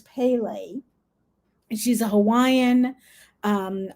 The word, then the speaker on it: Pele: think her name uh the way you pronounce her name is pele and she's a hawaiian